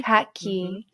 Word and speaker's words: Kaki: you pronounce it Ki Kaki as in kakima but Kaki yeah khaki